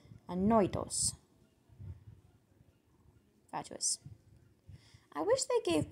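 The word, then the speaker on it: ανόητος: Annoitos. Annoitos. Sounds like annoying. Annoitos.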